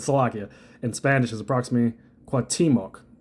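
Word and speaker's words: Cuauhtémoc: Pronunciation And it says the pronunciation of see I did Sloakia in Spanish is approximately quatimok a word for word transliteration with a slight stress on the second syllable.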